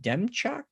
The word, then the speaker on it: Demchuk: Jason, how do you say his last name? Demchuk? Is that correct? Dumchuck, yeah. Dumchuck? It almost sounds like Numchuck to me sometimes.